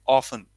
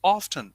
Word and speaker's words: often: for neither and neither is it often or often both are fine both are absolutely fine Americans say often britishers on the other hand say often I call often I'm